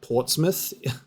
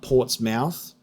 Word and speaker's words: Portsmouth: the shark's myth, because that's like the English way of pronouncing that, like Portsmouth, not Portsmouth.